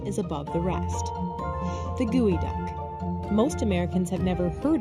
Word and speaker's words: geoduck: out of the way it may be spelled geoduck but it's pronounced gooey gooey ducks are the